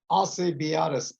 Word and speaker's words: Alcibiades: How do we pronounce the name of this stakes? It's the Darley Alcibiades Stakes.